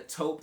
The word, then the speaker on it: taupe: I actually had to look it up because it does not sound how it looks or how you read it. It's taupe, so it's Taupe Haze.